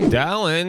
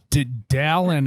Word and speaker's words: Dallin: It's like Alan with a D. No, I like It's that. like a cross between Dylan and Alan.